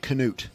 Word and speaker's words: Knute: I delivered my song knute rockne or is it Knut can i newtons on who you speak with well mr. Rockne I guess the official correct pronunciation is Knut okay but in in America in America most Knute I don't Cano remember